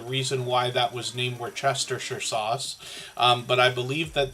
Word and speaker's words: Worcestershire: Wash your sister sauce is a common way to say it. Yes, Kristen's making me laugh in the background here. But Worcestershire, the only reason I might be able to pronounce that accurately is because of the name of that town.